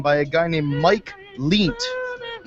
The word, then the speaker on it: Lient: This is called it's a Roman Reigns parody theme by a guy named Mike Leent, and his last name is spelled Lient, like lie with an NT at the end.